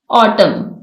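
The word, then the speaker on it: autumn: इसमें H silent है ऑटम इसमें एन साइलेंट है है रैप इसमें डब्लू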